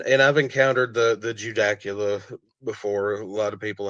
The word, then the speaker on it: Judaculla: So, and and I've encountered the the Judacula before. A lot of people have a hard time saying it, but the way I've always heard it pronounced is Judacola.